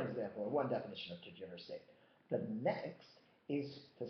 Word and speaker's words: tergiversate: Well, it's not pronounced tergiversate. It's pronounced tergiversate.